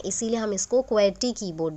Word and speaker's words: QWERTY: Keys हैं ये QWERTY, अगर हम इसको रीड करें एक तरीके से तो एक वर्ड की स्पेलिंग जैसी भी नज़र आती है, क्वर्टी। So that's why we call it एज क्वेटी keyboard also. तो जो फर्स्ट 6 रोज